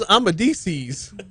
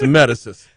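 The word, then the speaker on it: Amedisys: Below guarantee on that list is a company with 15,000 employees, and Patrick goes, "Who's Amadices?" So it's Amedicis. Medicine.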